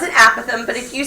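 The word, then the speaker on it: apothem: pronounce that word is aatham sounds like apathy which is a really depressing concept but it has nothing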